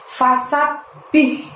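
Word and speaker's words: فسبح: Di ayat yang ketiga diawali dengan lafaz fasabbih. Nah, sabnya di situ kita tekan lalu tahan 2 harokat baru bunyi bih gitu ya, teman-teman ya.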